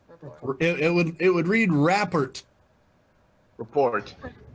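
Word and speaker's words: rapport: would it would read raer report right if you have neither then it's a mediocre the tea is silent because it's a French word and French people are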